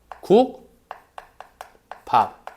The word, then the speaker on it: 국밥: 그래서 발음할 때 어떻게? 국밥! 이렇게 발음하는 거야. 국밥. 이해했어? 자, 비읍이 뭐로 된 거다? 쌍비읍으로 된 거다.